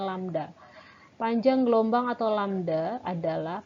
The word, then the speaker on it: lambda: Lambang seperti ini dibacanya lambda.